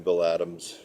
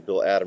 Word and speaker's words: Bill Adam: already been doing the Bill Adams routines and the bill adom routine I always like to pronounce his name with an S uh for those of